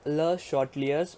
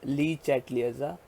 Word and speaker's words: Le Chatelier: Okay, so guys, this is your Le-Chatelier's principle. Now guys, don't pronounce it as Le Chatelier's. It is a French name, that is Le Chatelier's.